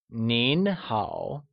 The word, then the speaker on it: Nín hǎo: Informally, hello translates to nin hao, where nin is spoken with a mid-rising tone and hao with a falling rising tone.